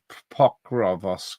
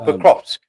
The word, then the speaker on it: Pokrovsk: Pokrovsk, is it? Oh, Pokrovsk.